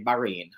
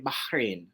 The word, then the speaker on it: Bahrain: we tend to say Bahrain, Bahrain, just as it's spelled. But for the Arabs, there is a sound where the H is. So it's actually Bahrain.